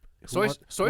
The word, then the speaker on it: Seuss: No, it's it's pronounced It's soy sauce. It's pronounc his name is Theodore So Geel.